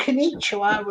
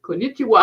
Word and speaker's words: konnichiwa: Um, And they got konnichiwa. I think is hello. that's the word I cannot pronounce.